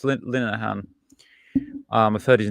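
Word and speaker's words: Linehan: his name before and I was calling him Linhan but it's yeah it's Lahan.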